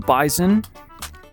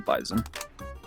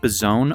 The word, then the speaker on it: Bizon: And if you pronounce it bizone, um you should be uh forfeit all rights to eat and live.